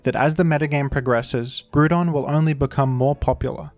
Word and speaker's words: Groudon: popular by the way I'm aware that I pronounce Groudon in a strange way when I was younger everybody at my school said Groudon like this and I never heard it pronounced any other way until years later I